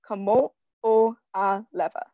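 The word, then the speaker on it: Kamoʻoalewa: I always pronounce these fast just because I've gotten used to pronouncing them, but Kamo'olewa.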